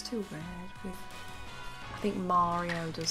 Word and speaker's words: Mario: There is unironically a bunch of weirdos on the East Coast that for some reason say Mario. I think it sounds too weird. I think Mario does sound better.